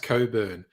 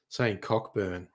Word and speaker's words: Cockburn: one of my favorite that's always pronounced Coburn um but it's so hard to resist saying cockburn um like I remember